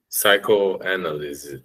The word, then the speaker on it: psychoanalysis: Psychoanalysis.